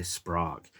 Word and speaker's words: Sprague: And those are Kittery, Greenland, Marblehead, and I'm going to pronounce this wrong, Sprague, which I think is like Prague, but with an S in front of it, so Sprague.